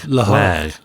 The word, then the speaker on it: Lehigh: 90s, I had a friend attending, I can't pronounce this, Lehigh. It's Lehigh. Lehigh.